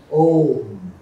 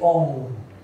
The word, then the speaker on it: Om: So the usual pronunciation should be with closing the lips. Om. Обичайното произношение с затваряне на устните, както го чухте току-що. But the Bengalis will say Om.